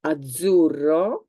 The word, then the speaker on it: azzurro: Some words with the sound z is azzurro. Azzurro is a color. It's a kind of blue. I can't find. Oh, there we've got something. This is kind of azzurro.